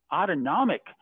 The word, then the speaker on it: autonomic: side of that the autonomic nervous system and that's really sort of that sympathetic uh parasympathetic part you know that that uh you know autonomic rhymes with automatic like our heart rate